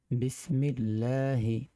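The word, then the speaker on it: بِسْمِ ٱللَّٰهِ: কুয়াতা ইল্লা বিল্লাহ তো বাংলা উচ্চারণটা হচ্ছে বিসমিল্লাহি এক আলিফ টান হবে বিসমিল্লাহি তাওয়াক্কালতু এই যে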